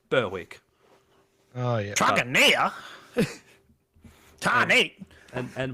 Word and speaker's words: Berwick: Yeah, we have a suburb here called Berwick, but it's spelled Berwick. Berwick.